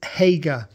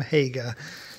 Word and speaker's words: Hager: he no hold on it's not anymore because I've watched your videos on YouTube Peak and your name is Hager so that's how you pronounced it you said uh hello I am Hager so Hager I got your name right because I say or Hague or or is Hager you've sent this through